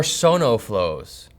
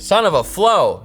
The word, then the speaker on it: SonoFlow: You could also pronounce it son of a flow if you want, but don't do that.